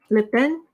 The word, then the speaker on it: Le Pen: thing but holy friends it's pronounced like le pen like the writing instrument thank you seek help